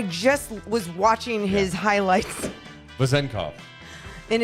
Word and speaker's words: Vezenkov: I just was watching his highlights, Vezenkov. and it's like if you really want to say it right, it's like Vezenkov.